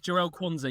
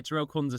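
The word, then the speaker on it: Jarell Quansah: think the center half quansa I think to how to say it I don't I don't think that one's a realistic one it's jell Konza yeah jel Konza Center back for Liverpool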